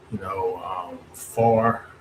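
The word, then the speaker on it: Pharr: Like for a few off the top of my head, Mission, Far, and Far is spelled Phar, Far.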